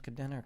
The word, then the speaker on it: Kadena: so it's Kadena's men who say her name is Kadena Kadena Kadena Kadena's silencer it's a